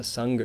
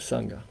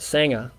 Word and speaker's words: sangha: what what is the sangha well first of all let me say that even though it's spelt with an a it's not sanger because that's an aussie sandwich so we're not talking